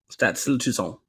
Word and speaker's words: Stade Toulousain: All right, for those of you that just wasted 8 minutes of us trying to figure out how to pronounce France's team. There you go. Stade Toulousain.